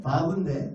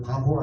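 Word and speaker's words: ו: 근데 이게 6번째 숫자 값을 갖는 바브인데 바브라고 읽어요. 바보 아니고 바브.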